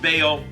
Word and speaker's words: Baal: and some pronounce it ball some pronounce it Bale uh Bale's sign or